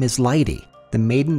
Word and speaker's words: Leite: His last name is Lie-tah, the maiden name of my grandmother. I came to learn it's not Lie-tah as we pronounce it in America, but rather Lie-tah.